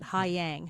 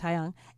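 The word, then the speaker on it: Haiyang: So, it's it's H ai Y A N G or as I initially tried to pronounce it, Hayang. Hi, R. But it's Hayang.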